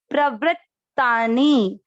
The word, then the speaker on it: प्रवृत्तानि: देखिए मैं हर जगह स्टॉप कर रही हूँ, जब भी ये आधा अक्षर आ रहा है तब उच्चारण बराबर होगा। अगर आप इसको एक साथ जोड़ देंगे तो ये अक्षर पूरे होने का रहता है।